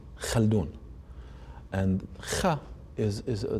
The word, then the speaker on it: Khaldoon: people couldn't Browns ha so I became known not as I'll doing which is my name but khaldoon khaldoon is my let's say my American name so khaldoon but you actually pronounce it Sal dune again you can do that in Yiddish but not so much in the Arabic yes I found that